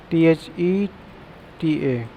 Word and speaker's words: theta: This is called theta, Theta. It will be pronounced theta.